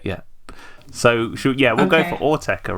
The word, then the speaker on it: Autechre: Autechre, and Autechre.